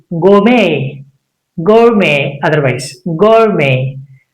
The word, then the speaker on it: gourmet: We should not make it louder. That means it's a silent. It becomes silent.